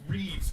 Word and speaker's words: Reeves: So my name is Reeves, but you all pronounce it Revis.